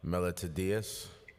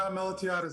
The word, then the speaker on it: Melatiadis: No, Melatiadis, it's fine. It's a long Greek name and everyone does it.